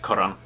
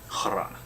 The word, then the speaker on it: Kharan: Well, like Kharan. H is not for decoration. Well, it's also for that, but you hear it. Kharan.